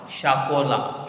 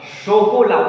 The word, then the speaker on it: chocolat: What I told, say ash will make sure sound. Sure. It is. I went like using whenever C follows consonant, then it will pronounce. That is there, but I told a group of consonants. Say ash will generally form sure sound. Shakola. Shokola. Why sha? That is the problem.